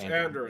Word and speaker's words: Andoran: Is it Andoran? It's Andoran is your kingdom. And then... I thought that was the demonym, but okay. No, Andoran. It's Andoran. It's pronounced Andoran, okay.